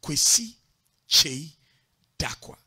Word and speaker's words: Kwesi Kyei Darkwah: So I insisted on using Kwesi Kyei Darkwah. Now, those were five syllables. Now, that was a lot. See, because Che stands by itself. Kwesi stands by itself. Dakwa stands by itself.